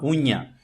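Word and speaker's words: uña: Em português usamos unha. Se escreve U-N-H-A, unha. Em espanhol se escreve U-N-A, unha.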